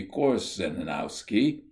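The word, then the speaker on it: Korzeniowski: similarly in early days conrad always wrote and pronounced his name as kutzanowski the correct transliteration would appear to be course in owski it does not seem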